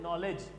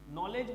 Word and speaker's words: knowledge: जैसे हम बोल रहे हैं नॉलेज, लिख रहे हैं KNOWLEDGE, नॉलेज बोला लेकिन के भी इसमें आ रहा है, ठीक है ना।